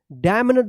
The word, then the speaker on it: damned: DAMNED, क्या पढ़ेंगे, डैम्ड, डैम्ड मत पढ़िएगा, डैम्ड पढ़ेंगे, ठीक है, यहाँ पे भी क्या है, एन साइलेंट रहेगा।